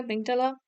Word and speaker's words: amygdala: It's actually amygdala.